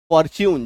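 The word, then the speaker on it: fortune: यू आ जाए तो भी टी यू का उच्चारण जो है उस शब्द में च होगा जैसे एफ ओ आर टी यू फॉर्च्यून च टी एन टी यू च सेंचुरी एस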